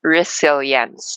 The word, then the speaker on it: resilience: So apparently, so our topic is resilience and the landscape of COVID. And resilience is pronounced with a Z.